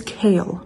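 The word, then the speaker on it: Chaol: so pissed at kale his name is kale by the way not Cole I've been saying it wrong and Dorian like I'm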